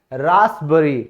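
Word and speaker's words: raspberry: और कुछ शब्द आप देख सकते हो जहां पी साइलेंट होगा, रास्पबेरी, ठीक है, ये एक तरीके का हमारा फ्रूट होता है।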